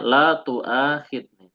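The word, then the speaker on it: لا تؤاخذني: Ini cara bacanya la tu'akhidni.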